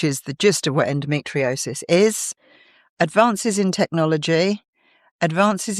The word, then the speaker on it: endometriosis: So this week, this month even endomtriosis, I should say it right, endometriosis awareness month.